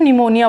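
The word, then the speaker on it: pneumonia: बिल्कुल उसी तरह जिस तरीके से आपकी निमोनिया की स्पेलिंग को पी न्यूमोनिया नहीं बोला जाता, आप पी को कट करते हो सिर्फ निमोनिया बोलते हो, उसी तरीके से इसमें से पी कट हो जाएगा और सिर्फ स्यूडनेम बोला जाएगा।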